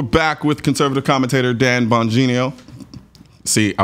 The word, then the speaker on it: Bongino: on folks we're back with conservative commentator Dan banino see I butchered your name this time after I've said